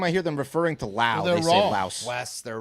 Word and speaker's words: Laos: let us know that the s in Laos is actually silent so it's loud it's a silent s